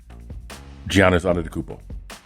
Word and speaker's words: Giannis Antetokounmpo: Because the best big man in the league, I feel, would be between Jokic, Joel Embiid, and how do you pronounce his name? Giannis Antetokounmpo.